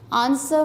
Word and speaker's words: answer: Answer, answer में W silent है।